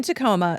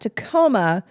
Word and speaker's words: Tacoma: it didn't help that Tacoma conveniently rhymes with Aroma yeah that's an unfortunate